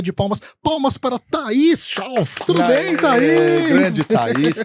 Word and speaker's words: Schauff: Palmas para Thaís Schauf. Tudo bem, Thaís? Grande Thaís, querida. Thaís, me MMA. diz se eu pronunciei corretamente o seu sobrenome. Thaís Schauf. Schauf.